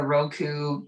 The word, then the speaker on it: Roku: that on the it's the roku i might be pronouncing that wrong no you said right roku's awesome roku you know